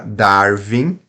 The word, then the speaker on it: Darwin: nós temos uma vogal agora Darwin agora já se trata de uma consoante né então Valmir por